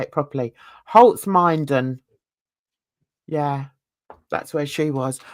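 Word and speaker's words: Holzminden: Oh no, Holtzminder she was in. No, say it properly. Holtzminden.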